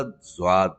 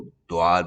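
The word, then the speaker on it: ض: सीधा ज़्वाद मिल जाएगा, या इसको द्वाद भी कहते हैं। दोनों तरह से प्रोनाउंस किया जा सकता है। उर्दू के हिसाब से तो हम ज़्वाद कहते हैं, अरबी के हिसाब से इसको द्वाद कहा जाता है।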